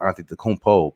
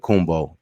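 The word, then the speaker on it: Antetokounmpo: it the great way so it's Auntie tacompo but he says it kumbo like gumbo whatever like that um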